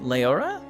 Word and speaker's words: Leora: human Paladin Mari uh is it Leora am I pronouncing that correctly yes I don't remember